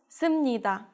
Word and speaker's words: 습니다: 습니다 becomes 습니다.